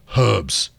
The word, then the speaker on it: herbs: star to be Caesars pronounced Erbs Americans pay attention Erbs H herb yeah all right thank